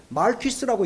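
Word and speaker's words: Marquis: 그래서 제가 미국 사람한테 물어봤어요. 이 어떻게 읽는지. 그랬더니 말퀴스라고 읽는데요.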